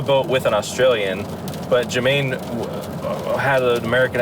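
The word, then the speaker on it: Jemaine: That's not Jermaine. you That's how idiot. No, What? it's J-E-M. That's how it's spelled.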